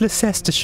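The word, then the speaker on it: Leicester: ler you're not British it's pronounced Lester oh gosh my cover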